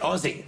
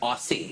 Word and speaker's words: Aussie: And I say it right, Aussie, not Aussie.